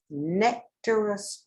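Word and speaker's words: Nectaroscordum: bloom for quite some time so let me spell that because that is a mouthful nec t-a-r-o-s-c-o-r-d-u-n nectarist okay so remember that and be brave give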